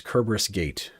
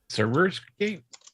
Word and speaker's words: Kerberos Gate: And the name of that company is Kerberos Gate, or Kerberos Gate, however you want to say it. I'm not going to make you Can you spell it? phonetically go. Yes, I'll put it in chat. Okay. Cerberus Gate? Oh, Cerberus Gate. Okay. Sorry. Yeah, it's the other spelling of Cerberus.